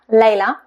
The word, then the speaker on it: Leila: So, for example, my name, Leila, Leila, the stress is on the first sound, Leila. We can't say Leila, Leila, sounds very odd.